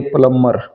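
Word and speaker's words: plumber: जैसे कॉम, बी ओ एम B, Baum और प्लम्बर, इसको मोस्टली लोग गलत गलत बोलते हैं। इसकी सही साउंड होती है प्लम्बर, बी साइलेंट होता है।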